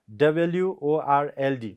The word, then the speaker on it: world: becomes sound ra okay raw remains silent while pronouncing the word word so how do you pronounce this word w o r l d world or world world